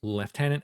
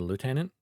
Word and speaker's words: lieutenant: whilst Lieutenant Lieutenant Lord I keep switching between leftenant and Lieutenant because I've always just read it as Lieutenant because that's how it's spelled but of course it bones back and forth between saying it the British way and the American way weird I think I've